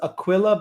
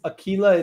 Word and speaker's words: Akila: name is Akila which some people might pronounce as Aquilla but it's Akila it's yeah it's ego